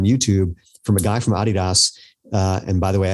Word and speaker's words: Adidas: In fact, there's a video on YouTube from a guy from Adidas. And by the way, I say it that way because I'm special. It's actually because that's how they say it in Europe.